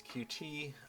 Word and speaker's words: Qt: you had to bolt them on afterwards uh through various things like either the official pronunciation of cute or what I knew it as as QT uh had had a